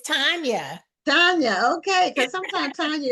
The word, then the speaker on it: Tanya: So I want to find out, is it pronounced Tanya or Tanya? It's Tanya.